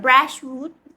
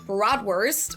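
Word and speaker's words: Bratwurst: Brashwood. It is. Most Americans say broadwurst or sometimes it's also shortened to just brat. But it's a V. In German, we say brat.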